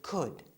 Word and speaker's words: could: And remember, we said that could always stays the same and that the L is silent.